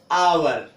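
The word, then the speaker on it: hour: इसी तरह से एच साइलेंट कब होगा, एच साइलेंट कब होगा, जैसे आवर, एयर, ऑनर। तो दिख रहा होगा आपको, यहां पर एच साइलेंट है, आवर, एयर और ऑनर।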